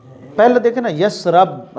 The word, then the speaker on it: یثرب: یثرب پہلے دیکھیں نا، یثرب را کے اوپر زبر پڑھتے ہیں، ایک تو یہ تلفظ ہی غلط ہے۔ صحیح لفظ جو ہے تلفظ یثرب ہے، یثرب کے والی شاہ مدینہ۔ جی تو یہ لفظ قرآن میں بھی اس طرح ہے، یثرب را کی زیر کے ساتھ، وقالت طائفۃ من اہل